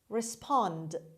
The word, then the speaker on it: respond: around word number 11 respond respond respond the stress is on the second syllable respond means answer or